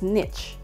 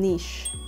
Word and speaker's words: niche: But originally, it's pronounced as niche. Okay, but over time, it became niche. Niche. So, parang naging modern pronunciation na siya ng word kasi nga, mas maraming gumagamit nung ganong pronunciation. So, yun. Pero pareho silang acceptable. Mas popular nga lang talaga yung niche. Niche.